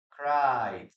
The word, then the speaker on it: cried: What is the pronunciation here? Cried, cried. Letter D.